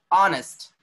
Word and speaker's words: honest: Honest, honest, honest, honest. Do we say honest? Means H is silent and the sound is coming O.